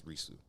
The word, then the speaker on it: Risu: Well, the English way to pronounce it is Risu. Okay, understood. So, and it sounded like Reese, and I was like, nobody's gonna know.